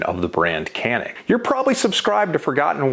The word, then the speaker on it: Canik: the comments and tell me that it's actually pronounced yannick now you're wrong not me but with that out of the way we can talk about the canik mete now the mete was released in two